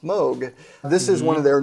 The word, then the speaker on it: Moog: people do because it's two o's but it's pronounced moog this is one of their newer semi-modular rigs